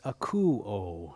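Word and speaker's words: ἀκούω: in the span of three short verses it's aku oh is how it's pronounced when translated it's listen four times listen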